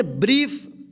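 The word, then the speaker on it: brief: ब्रीफ देखिए यहां पे बी आर आई ई एफ।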